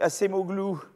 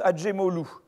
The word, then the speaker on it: Acemoglu: gens qui ont suivi la voie schumpétérienne donc à ces mots glou alors on prononce pas comme ça ça se prononce à jim hall ou parce que c'est voilà blum ah oui assez